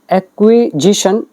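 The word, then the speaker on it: acquisition: कौन सी कंट्रोवर्सी कह रहे हैं ओवर लैंड एक्विजेशंस एक्व यह जो है एक्विजेशन एक्विजिशन क्या होता है अधिग्रहण जैसे डाटा एक्विजेशन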